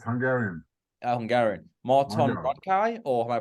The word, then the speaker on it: Radkai: Radkai, or am I pronouncing that incorrect? Radkai, that's correct.